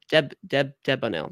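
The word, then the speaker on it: Delbonnel: In fact, also Brunel Debonel. The L's, the first L is silent.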